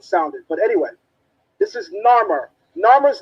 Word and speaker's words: Narmer: myrrh together it spells narmer no one is sure on the pronunciation because the egyptians did not have a a systematic way of us knowing how